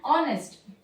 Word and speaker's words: honest: Okay, if it is silent, we have to use an. Okay, it's silent here. An hour. Okay, an honest.